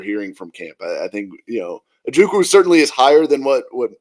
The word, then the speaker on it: Ojukwu: Maybe he just can't pronounce that W for whatever reason. And to be fair, Mike Keith is the last person on the planet that I want to start podcast beef with. I love Mike Keith. Could he be the one pronouncing it right, and we're all pronouncing it wrong? It's a silent W.